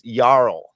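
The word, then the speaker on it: jarl: We don't have a Y character, so the J is pronounced Y. So it's that's why you get that Y. It's it's yarl.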